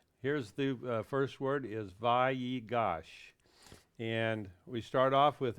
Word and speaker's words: Vayigash: That little period in its mouth there inside the Yud, that is telling us that you pronounce that letter twice. Vayigash. Vayigash. Okay? If it wasn't for that yud, then you would say Vayigash. But because it's got the little period inside of it, we know we're supposed to do a double pronunciation.